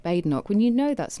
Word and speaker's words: Badenoch: You repeatedly referred in your press conference to Kemi Badenoch.